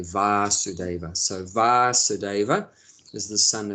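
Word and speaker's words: Vāsudeva: son of vasudeva so his father's name just has a short a vasudeva and krishna's name has a long a VAR sudeva so vasudeva is the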